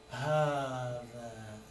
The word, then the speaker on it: هذا: وverily it's منقول هذا, but when you pronounce it, it's pronounced long.